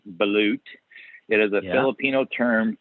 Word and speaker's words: balut: So Wikipedia says it's pronounced balut.